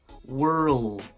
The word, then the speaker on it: world: emotions all about to start with the are like in the word were were then add the dark L world world then we just need to add the D world the world this is